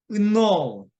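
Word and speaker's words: know: K는 묵음이고 N은 콧소리이기 때문에 이게 되게 좀 상당히 중요하던데 N이 상당히 중요해요. 발음도 그렇고, 그러니까 첫 소리나 끝 소리가 되게 좀 중요하더라고요. 저희가 좀 다르게 발음하던데 콧소리이기 때문에 보통 은으로 발음합니다. 은으로. 그래서 은노, 은노. 예, 그 다음에 은노. 예, 그렇게 발음한다는 것이죠.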